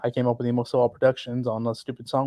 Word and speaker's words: EmoséwA: And then se is really more like you're saying say.